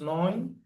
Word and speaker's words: neun: And 9 is neun.